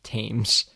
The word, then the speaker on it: Thames: the thames yeah t-h-a-m-e-s thames river it's the tames thing it's pronounced james and i just wanted to correct